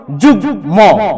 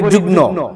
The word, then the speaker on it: যুগ্ম: সুস্পষ্ট হবে সুস্পুষ্ট হবে যেমন যুগম যেমন কি যুগম যুগ ম যুগম আমরা অনেকেই ভুল করে শতকরা 99 শতকরা 99 ব্যক্তি আমরা এটাকে বলি যুগ্ন যুগ্ন সম্পাদক যুগ্ন আহবায়ক